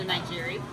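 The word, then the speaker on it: nigiri: we just got our pieces of sushi the nigeri that's how you pronounce it and actually this comes with some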